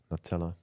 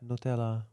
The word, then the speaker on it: Nutella: yeah local accent like that's just an Italian brand pronounced Italian Le yeah exactly like